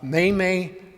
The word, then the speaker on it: Memme: For the first part, it's like the month of May twice, May.